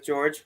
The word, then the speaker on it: Jorge: like I said earlier my name is George Jorge however you doesn't matter how you pronounce it um we're talking about